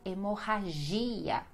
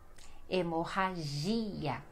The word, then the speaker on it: hemorragia: Deu para perceber então que sempre essas palavras que terminam com ia, essa será a sílaba mais forte, esse i que precisa ter o som, que precisa ter o acento forte ali, tá bom?